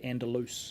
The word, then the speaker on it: Andalus: Andalus is the way we're going, and the way the connections are wanting to be pronounced, so we'll go with that way, Andalus.